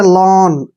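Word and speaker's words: lawn: ए डब्लू एन देखिए इसका उच्चारण हमने कैसे करना है एल का उच्चारण हमने क्या करना है ल और ए डब्लू का उच्चारण औ करना है औ ठीक है और एन का उच्चारण न करना है देखिए हो गया लन ऐसे लन लन क्या होता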